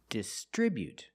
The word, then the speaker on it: distribute: We put the stress on the second syllable distribute.